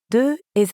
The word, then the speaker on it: deux: De is actually spelled with a silent letter X at the end. But when we add a vowel sound after it, like in euro, we end up with a liaison that has a Z sound.